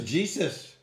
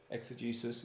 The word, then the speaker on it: exegesis: How do you pronounce it? Exegesis. Exegesis.